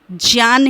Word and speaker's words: ज्ञान: जिन्हें पता है कि ज्ञान का सही उच्चारण जान है विज्ञान का सही उच्चारण